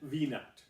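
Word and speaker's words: v₀: the following now this is pronounced x-nut and v-net that's the initial position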